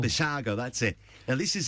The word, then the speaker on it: Basiago: is it beside gee I always get his name wrong Andrew basiago Vassago that's it now this is a very interesting